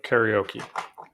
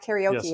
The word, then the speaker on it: karaoke: it's kind of okay when you say it in japanese it's not karaoke it's kind of but we're not in japan so it's karaoke here okay great um and